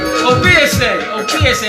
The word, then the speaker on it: Obiese: Obiese, accent on the ESA.